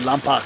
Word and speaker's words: Lompoc: Or correct pronunciation would be Lompoc.